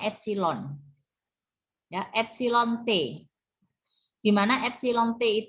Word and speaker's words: epsilon: relatif ini nulisnya FC ini bacanya epsilon ya epsilon Te Gimana